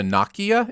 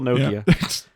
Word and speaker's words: Nokia: Make it a long O instead of a short O. Yeah. It's my language. Get your own. Maybe they spelled it wrong, but it's still Nokia.